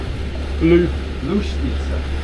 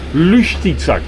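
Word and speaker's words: Luštica: How do we pronounce where we stayed last night? Lustica. Lustica.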